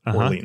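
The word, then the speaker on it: Orléans: Orleans.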